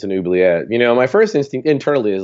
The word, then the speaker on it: oubliette: And I was just like, "It's an oubliette."